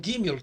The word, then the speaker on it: Gimel: O Gimel tem um som de G, como na palavra gato, e nunca é pronunciado como em girafa.